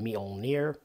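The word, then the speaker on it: Mjölnir: four number three is molner now that's how I pronounce it some people I think I've heard it said Meir uh there's the word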